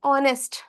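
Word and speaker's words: honest: क्योंकि यहाँ पे एच साइलेंट है।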